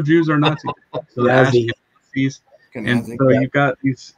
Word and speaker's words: Ashkenazi: So the Ashkenazis.